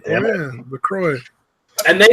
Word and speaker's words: LaCroix: That's not how you pronounce that. You and your fucking white people water. That is not how you pronounce that, Stabby. I mean, that's how it's supposed to be pronounced. What I'm saying is that is not how you pronounce it. Oh, LaCroix. My bad. I forgot. I think you guys finally made enough fun of me that I actually somehow, like, remembered how you actually say it.